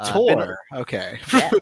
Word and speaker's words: Pator: Pator. There you go. Now you got the pronunciation. I wasn't going to try to correct you, but Pator.